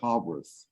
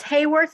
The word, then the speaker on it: Hayworth: Do you pronounce it Hayworth or Haworth? It's Hayworth, and actually I'll put something in a lot simpler.